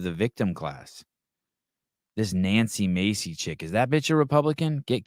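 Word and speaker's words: Mace: see what she is Nancy Macy oh God I what is she US Representative do I have her name wrong I N M oh Nancy ma okay yeah thank you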